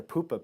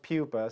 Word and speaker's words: pupa: the industry and they'd say I'd like a poopa pattern well it's pronounced Pupa so I just figured Pupa was a natural